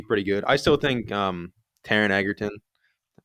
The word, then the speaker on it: Taron Egerton: I still think Taron Egerton, I pronounced it right that time.